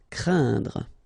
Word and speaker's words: craindre: this combination of letters, so A, E, and then N, okay, so it will be a nasal as well, and then it will be pronounced like un, so keep in mind that it goes in your nose, so you don't hear any N when I pronounce it, and then C plus R will produce the sound cr, crain, craindre.